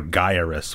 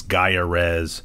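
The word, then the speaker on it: Gyruss: And then over here, we've got an ad for Gyarus, which is often mispronounced as Gyarez.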